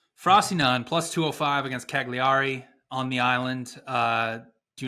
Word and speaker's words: Cagliari: Cagliari. You gotta Cagliari? hold the G a little bit.